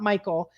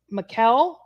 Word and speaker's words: Mikkel: It's not Michael. It is Mikkel.